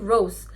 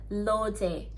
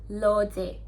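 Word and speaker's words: 로제: nama member blackpink rose rose dalam bahasa Inggris kan Rose tapi ketika dia ditulis dalam bahasa Korea atau ditulis dalam hangle itu pelafalannya bukan rose lagi tapi jadi lo c jadi bukan ro je tapi lo c tetap l untuk yang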